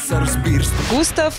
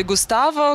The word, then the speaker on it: Gustavo: Густав или Густаво. Некоторые говорят Густаво. Так, по крайней мере, пишется на всех альбомах. Другие говорят Густав. И латыши, они так помягчают это все и говорят Густинч.